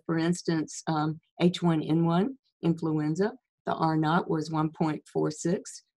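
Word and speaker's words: R naught: at the bottom and it's pronounced not like naughty so are not and the are not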